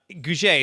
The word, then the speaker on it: Gouge: Please welcome to the show with me, Matt and Gouge is how you pronounce it, correct, Matt?